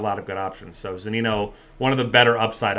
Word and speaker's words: Zunino: I mean, if you're looking for punt options tonight, Mike, I know I'm going to murder his last name, Zunino? Yeah. Mike Zunino, is that pronounced correctly?